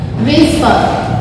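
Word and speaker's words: whisper: विस्पर, विस्पर बोला जाएगा, हा की साउंड नहीं आती है इसमें, ठीक है।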